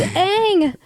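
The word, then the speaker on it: Aang: go he goes It's pronounced on it's not pronounced on it's Ang it was an original American cartoon I can't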